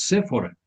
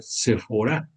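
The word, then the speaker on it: Seforá: Decimos muchas veces por la tienda muy famosa, decimos Séfora, pero la escritura nos los pone con acento en la A. Se supone que debe de ser Séfora, así como también aquí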